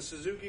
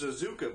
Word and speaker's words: Suzuka: can go with the Suzuki blue and the radiant red over a black base guys it's actually pronounced Suzuka blue but if you think